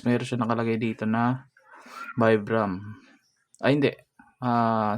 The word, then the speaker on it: Vibram: siyang nakalagay dito na vibram ay hindi ah sabi nila is viam daw tamang pronunciation nito so yan your connection to